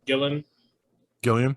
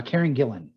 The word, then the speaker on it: Karen Gillan: i like uh karen is it dylan gilliam yep right angelina yes yes i'm looking to you hugh for the pronunciation on that one uh karen gillan thank you to me